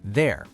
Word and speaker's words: their: These three words sound completely identical, but they mean totally different things and are spelled differently. Right, so let's break them down one by one. First, T-H-E-I-R, there.